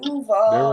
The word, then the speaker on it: Duval: Duval.